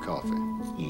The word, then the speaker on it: Coffey: Your name is John Coffey. Like a drink, only not spelled the same.